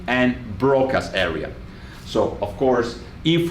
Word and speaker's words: Broca: And Wernicke should really be pronounced Wernicke, and Broca should be really pronounced Broca.